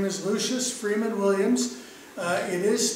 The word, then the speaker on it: Lucius: His name is Lucius Freeman Williamz. It is spelled on his gravestone, L-O-U-C-I-O-U-S.